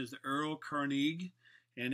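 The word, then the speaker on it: Erlkönig: The German pronunciation is the Earl König, and it's basically about this this cruel and devilish type elf who would come and steal your soul.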